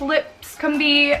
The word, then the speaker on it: Lipscombe: L IPSCO MV so I believe it's lips Kumbi I think I've heard her pronounce it that way but yeah I'm gonna